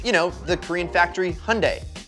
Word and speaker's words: Hyundai: know the korean factory hyundai it rhymes with sunday at least that's how